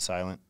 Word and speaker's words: SLNT: atgo okay yeah but we pronounce it silent and yeah it's it